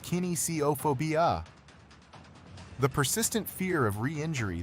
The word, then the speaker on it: kinesiophobia: Kinesiophobia, pronounced kinesiophobia.